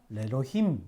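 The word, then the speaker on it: לֵאלֹהִים: 레로힘 이렇게. 알렙을 아예 발음을 안 해버립니다. 그 대신 앞에를 장모음으로 해주시는 거죠. 레로힘 이렇게 하는 겁니다.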